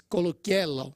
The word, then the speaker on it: Coluccello: Actually, it's Coluccello.